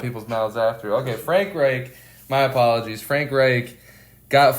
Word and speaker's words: Reich: Reich.